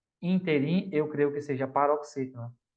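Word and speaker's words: ínterim: A gente fala interim, mas o correto é interim. É proparoxítona. Errei mesmo. Foi mal. Errei uma, tá bom? O professor também erra. Então, não é interim, é interim, né?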